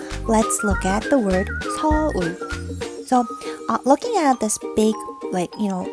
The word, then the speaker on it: 서울: 서울 is the word. 서울. Oh, so 서울 is how we would pronounce it.